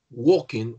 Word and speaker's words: walking: weeks de abrigo tayer walking walking la l no se pronuncia en la como si fuese una o walking dead' hay que hacer